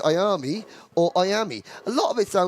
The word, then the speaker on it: Miami: And that is the pronunciation of Miami, because you say Miami. Yep. I say I-am-e, which is how it's actually spelt.